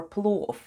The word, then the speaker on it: плов: You probably already know a delicious Eastern dish called pilaf, which is English for plov. In plov, v at the end is pronounced as f.